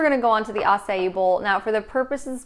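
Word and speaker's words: açaí: so if you don't know what acai is it's spelled a CAI some people think it's a CAI it's pronounced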